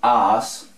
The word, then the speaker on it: us: Cuando veamos as, se escribe así, us, pero se pronuncia as.